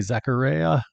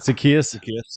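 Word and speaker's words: Zaccheaus: Rome Odunze, DJ Moore, Luther Burden III, Olamaye Zacharias. Is that how you say it? Did I get that one right? I think it's Zacchaeus.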